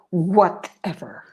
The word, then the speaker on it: whatever: Notice that with all of these words, I believe the stress is on the first syllable. Whenever, whichever, whatever. the first syllable is stressed harder than the second.